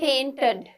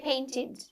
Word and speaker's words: painted: We don't say painted, right? We say painted. Painted, id sound, okay? Because that's how you actually pronounce it.